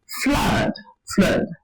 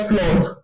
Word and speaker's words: flood: present in words like flood, fun, love. So this word is not flawed, like most of us actually, pronounce. It's not flawed, but what? Flood.